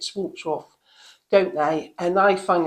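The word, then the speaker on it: Schwarzkopf: do always use shorts I think we pronounce it swamps off don't they and I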